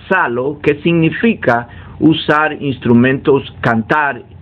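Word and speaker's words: ψάλλω: Otros que son un poquito más estudiados en el área dicen que aparece una palabra griega que se pronuncia salo, que significa usar instrumentos, cantar usando un instrumento musical de cuerda.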